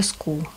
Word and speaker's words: school: Значит, в слове school. Буковка C здесь как? К будет читаться, H не читается. и две О, как у school.